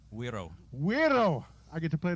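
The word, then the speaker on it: güiro: How do you pronounce this correctly? Wiro.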